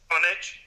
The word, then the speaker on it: Comaneci: At the 1976 Olympic Games in Montreal, gymnast Nadia Comaneci, how do you pronounce her name? Comaneci.